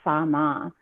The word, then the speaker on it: Tsamma: and it was called Sama, Tsamma, pronounced Sama, watermelon juice.